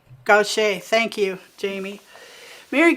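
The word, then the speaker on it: Gauthier: pronounce her last name it's french and i think it isn't spelled like it's pronounced gaucher gautier thank you jamie mary goshay's songwriting is amazing too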